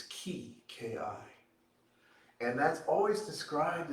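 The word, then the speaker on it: 気: in star wars very similar in japanese it's ki k.i and that's always described as this mysterious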